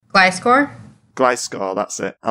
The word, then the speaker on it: Gliscor: I actually quite like, I don't know how it's pronounced. Gliscor? Gliscor, that's it.